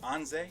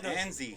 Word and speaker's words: Anze: Like, so it's pronounced Anze. Anze, yeah. Okay, my bad. See, I was butchering it. No, don't even trip. Everyone does. I thought it was Anze.